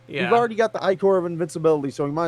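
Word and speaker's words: ichor: I can fill it with magical Ecor. That's pronounced Icor. Shit. Why does it sound much better as Ecor?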